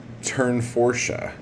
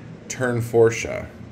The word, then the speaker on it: Tournefortia: can't even see what I did it's actually pronounce turn forche turn forche turn forsche that is what the pronunciation video said and